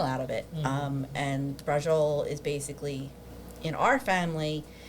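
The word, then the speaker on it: braciole: said it wrong okay that's all right um brol so it is a southern Italian Dish but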